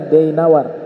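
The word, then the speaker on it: دينور: tersebut ada di wilayah daainawar ini bacanya dayinawar ada dulu ulama besar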